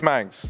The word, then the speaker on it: Manx: It rhymes with thanks. Yeah, it's Manx.